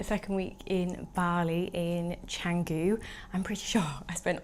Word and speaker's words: Canggu: week in Bali in Canggu. I'm pretty sure I spent all of last week calling it Canggu, like a kangaroo, and I've now learned it's not pronounced like that.